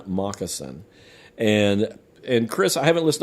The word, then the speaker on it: Mockasin: And this is an album called Forever Dolphin Love by an artist called Conan Moccasin. And Conan is spelled Connan, and Moccasin is spelled Mockasin.